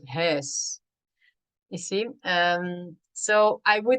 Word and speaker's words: huis: So sometimes the words would be pronounced like, yeah, like house instead of huis.